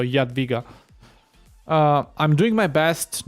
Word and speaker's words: Jadwiga: I think it was you last time that taught me the Polish pronunciation. It's like ja in German, so Jadwiga.